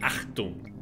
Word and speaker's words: Achtung: It's not A-C-T, it is A-C-H-T. Because you do pronounce it Achtung.